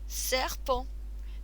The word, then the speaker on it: serpent: Un serpent. Again, we don't need to pronounce that last letter.